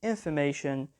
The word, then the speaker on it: information: as well and finally information the stress is on the third syllable now we move on